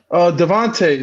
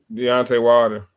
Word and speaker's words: Deontay Wilder: He fought fuck Devontae. Not am I saying it right? Deontay Wilder.